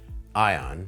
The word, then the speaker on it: Aion: Welcome to the ION path. You'll be invited into a right of passage journey with your kids age 12, 13, or 14. Ion, pronounced ion, like keep your eye on the path.